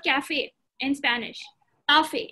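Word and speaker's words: café: And cafe, coffee is called cafe in Spanish. Cafe, it's called cafe. Remember, A is the A sound.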